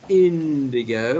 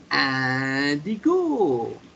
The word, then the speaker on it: indigo: little bit so it's instead of saying indigo we say andy cool very good tina and